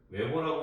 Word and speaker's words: Weber: 그래서 웨버라고 읽기도 하는데, 기본적으로 이제 그 독일식 발음이 적용돼 가지고 베이, 우리 보통 베버라고 하잖아요, 베버, 그렇죠?